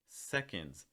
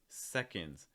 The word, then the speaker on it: seconds: there can second seconds notice the stresses on the first syllable so the second syllable can be like a real quick schwa sound cons i don't actually